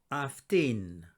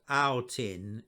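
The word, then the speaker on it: αυτήν: the first syllable ecobson aftin aftin it's not out in it's aftin i'll say more about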